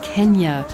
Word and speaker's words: Kenya: Well, from Tanzania, we're on our way to Kenya or Kenya or whatever you'd like to say. People call it anything nowadays. In fact, the correct pronunciation is Kenya according to local tradition.